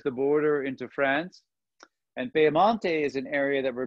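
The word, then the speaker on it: Piemonte: major wine regions or you could also pronounce it the way the italians pronounce it peyamante and if you can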